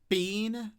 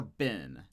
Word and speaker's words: been: Do you say bean or bin? You say bin.